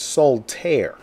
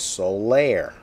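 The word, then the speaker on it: Solaire: read and heard speak about it myself would pronounce it Soul te right when actually is Solair I had to check that out on the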